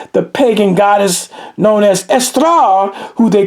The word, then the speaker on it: Eostre: It's It's pronounced Estra. That's how it's pronounced. Estra with the with the That's how you pronounce it.